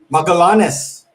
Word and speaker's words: Magallanes: Magallanes. Magallanes. Yeah, And then we have, no, but then that's we the have, pronunciation. huh? The Tagalog version of it is Magallanes.